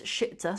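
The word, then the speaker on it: شئت: It's shi'ta, spelled like that. It is indeed. It's spelled sheen, and then a hamza, kind of sitting on like a ya seat, we call it.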